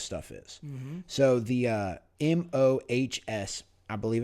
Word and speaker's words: Mohs: So the MOHS, I believe it's pronounced the Mohs scale, is used to define how hard / scratch resistant a material is.